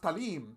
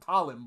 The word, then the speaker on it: Talim: are in tagalog so her name must be pronounced talim not like most people pronounce it talon but if she is filipina and it turns